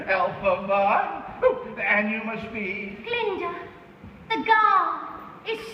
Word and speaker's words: Glinda: Glinda, the guard is silent.